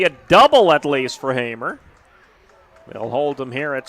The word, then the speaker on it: Hamer: Jim Thompson even pronounced his last name right. Got it, yep. Hamer, big swing.